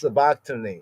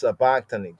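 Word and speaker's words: sabachthani: Ali a lama sabakani. Say it's sabakony. It's sabakony. Just take it slow.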